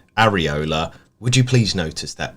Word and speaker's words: Areola: Apparently, Ben, Bournemouth's manager is called Iraola. West Ham's goalkeeper is called Areola.